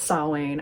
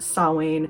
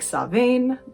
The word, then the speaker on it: Samhain: of itself is a celtic word it is pronounced sawing i know looking at it if you're not